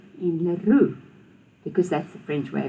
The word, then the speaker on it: Leroux: So you'll notice that we pronounce it the way the French do. We don't say du Toit, we don't say Leroux. We say du Toit and Leroux, because that's the French way of pronouncing it.